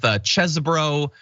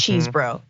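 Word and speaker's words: Chesebro: then five is Kenneth chesbro cheese bro some sort of bro there had gotta be if you're gonna say it say it right it's cheese bro yeah that's it well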